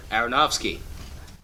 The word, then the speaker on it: Aronofsky: new film noah directed by darren how you pronounce that mr parker layman aronofsky aronofsky has recently been spotted along with cast